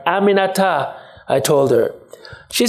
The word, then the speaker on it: Aminata: while after three tries she got it Aminata four syllables it's really not that hard Aminata I told her she